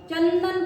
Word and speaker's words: चंदन: चंदन बोलते वक्त अनुस्वार के उच्चारण के वक्त हमारा जीवा का आगे का हिस्सा दांत को चिपकता है। ऐसे चंदन उच्चारण आता है।